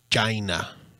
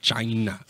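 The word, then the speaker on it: Blac Chyna: actually what sounds like I believe it's pronounced China I believe that's how it's supposed to be pronounced I think that's how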